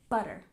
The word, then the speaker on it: butter: Stress the first syllable, butter.